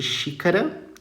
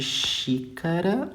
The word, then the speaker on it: xícara: aqui ele pode aliás ele pode ter som de X mesmo como é o caso de e de xícara tá como é o caso de xícara ó som de X